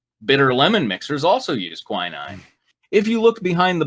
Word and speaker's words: quinine: The main ingredient in tonic is how is that pronounced? Quinine? Quinine.